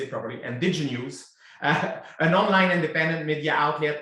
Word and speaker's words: Indigenews: In October 2022, she became the managing editor of Indigenews, you have to say it properly, Indigenews, an online independent media outlet amplifying the stories of Indigenous communities in the Okanagan and across Vancouver Island.